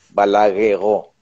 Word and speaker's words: Balagueró: Balagueró, porque es francés. Entonces, claro, se escribe igual, pero es con acento en la O, Balagueró.